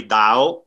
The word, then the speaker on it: Tao: is it danielle is it the town is pronouncing depending on where you ask you guys likely differ it's technically dao which some people when you say it will